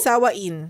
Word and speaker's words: Samhain: pronunciation niya pero ang spelling niya ay I s a m h a i n. So sawaain. Parang samhain o pas. Pero ang tamang pronunciation niya ay sa ganyan.